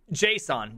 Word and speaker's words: JSON: Json JavaScript objects notation properly pronounced and was almost called the Gizmo Gizmo